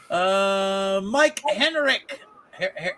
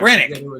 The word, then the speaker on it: Rennick: Mike Rennick. Rennick. The H is silent. Is that it? The silent H.